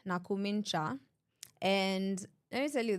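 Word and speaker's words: Nakhumicha: I have to say her name right, Nakumincha.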